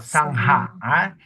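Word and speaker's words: Saṅgha: We pronounce as Sangha because we follow the Pali phonetics, Pali alphabets. So it is called Sangha. Sangha. Yes, Sangha. Because there is aspirated G. The G, we have to pronounce it G. Because the H is there. So Sangha. Sangha. Yes, you have to emphasize the H.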